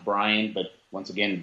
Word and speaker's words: Brayand: y a and d that is my first name Brian and it's pronounced Brian but once again B